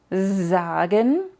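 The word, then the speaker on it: sagen: la diferencia es que una se pronuncia usando la voz como en zagen y puedes ver que vibra tu voz cuando lo dices al menos debería vibrar Y entonces sabes que lo dices bien zagen y len no es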